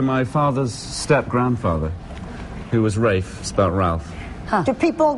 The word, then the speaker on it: Ralph: was named after my father's step-grandfather who was Rafe about Ralph huh do people get when you're